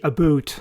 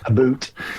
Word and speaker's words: about: about us and the aboot. Aboot. Absolutely. And this known as Canadian raising, this feature of how the word about is pronounced, It happens in the US as well.